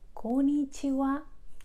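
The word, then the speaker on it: こんにちは: particles that is why in words such as konichiwa or konbanwa you will find it written with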